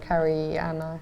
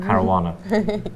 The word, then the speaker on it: Caruana: They and people get annoyed about the Nakamura and Karana. Kana, whatever you call him. Caruana. There we go.